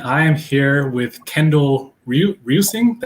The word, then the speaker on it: Reusing: All right, welcome to another episode of Perspective, and I am here with Kendall Rusing. That's how you pronounce it, right? Roosing, yeah. Rusing.